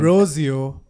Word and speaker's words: Rozeo: That's how you pronounce his name. Rozeo.